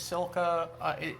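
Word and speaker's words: Silke: Her name is Silka. Her name ends with an E, but it's pronounced like an A. So her name is Silka, and her videos are just really calming as well.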